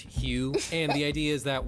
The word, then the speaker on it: Hu: Hugh means god and it's spelled hu and it's pronounced Hugh and the idea is